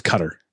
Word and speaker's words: Qatar: uh what is it i say it wrong i think it's cutter i think it's pronounced q-u-a-t-a-r he was on the